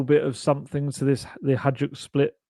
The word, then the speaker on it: Hajduk: of something to the Hajduk split. That's not how you pronounce it, is it? Someone told me off for calling it. Is it Hajduk? I think it's Hajduk.